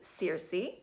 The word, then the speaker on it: Circe: So the energy of this week, and this goddess has a name that's pronounced a variety of ways, so you may hear me say it several different ways during this video, but the best that I can come up with is Circe.